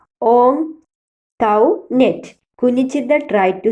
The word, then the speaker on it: Antoinette: Most of them pronounced it as Antoinette, but Kunjichirudha learned from Antoinette that the name ought to be pronounced Ontoinette.